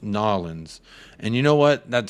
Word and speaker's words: New Orleans: lot of people from New Orleans who came over and they told me you don't say New Orleans it's pronounced nawlins and you know what